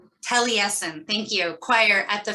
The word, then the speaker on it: Taliesin: Taliesin, thank you, choir at the Frank Lloyd Wright, one of my favorite architects, Institute in Scottsdale, Arizona.